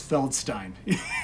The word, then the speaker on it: Feldstein: did his signature is he wrote Feld and then Drew like a beer stein so it was like telling people it's feldstein it's like pronounced it correctly and so I thought